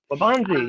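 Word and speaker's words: Waubonsie: and i'm not even going to try to pronounce the name of that high school it's w-a-u-b-o-n-s-i-e valley high school labonzi yeah okay it says can you come out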